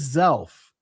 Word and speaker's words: Zelph: among the Lamanites, and his name was Zelph. Rhymes with self.